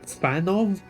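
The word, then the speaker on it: Fanow: Fanov? You pronounced the W as a V? Alright, sure.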